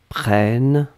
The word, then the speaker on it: prennes: Que tu prennes e s. Donc on est d'accord qu'on n'entend pas le s, mais si vous voulez écrire correctement, vous devez écrire avec le s à la fin.